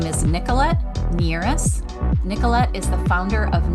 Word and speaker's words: Nierras: Say your last name because I probably butchered it. No, you're fine. It's actually Nierras, Nierras.